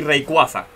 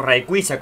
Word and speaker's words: Rayquaza: Y Necrozma y Rayquaza, o Rayquaza, como se pronuncia en español.